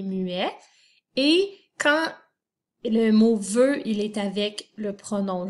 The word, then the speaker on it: veut: Alors, ça s'écrit V-E-U, mais à la fin, c'est un T muet.